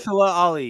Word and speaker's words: Mahershala Ali: Oscar winner, guys, help me, how do I pronounce his name again? Mahershala Ali? You got it. Mahershala Ali, yep.